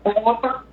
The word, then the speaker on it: porte: ne se prononce pas, le E muet ne se prononce pas, quand on écrit porte, P-O-L-T-E, porte, on ne dit pas porte, mais on dit porte, et ça va prononcer, on l'appelle un E muet.